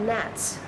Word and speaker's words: gnats: bugs that fly around the fruit they're called gnats it's spelled g-n-a-t-s this is a very rare use